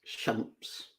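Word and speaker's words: شمس: The word for sun in Arabic is shams.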